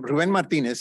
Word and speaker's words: Ruben Martinez: Ruben Martinez a professor let me pronounce my own name better than that I'm Ruben Martinez it's you know the Chicano syndrome you never know which side you're going to be on I am Ruben Martinez a professor in the